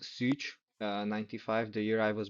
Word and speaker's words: Szucs: It's like Martin, like with an underline, Szucs, like pronounced Szucs, 95, the year I was born.